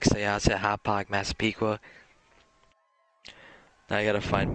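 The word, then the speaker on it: Hauppauge: Hopapog. No, it's called Hopog.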